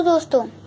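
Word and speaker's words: deux: तरीके से लिख अ ट को कहते हैं द और इसे कुछ इस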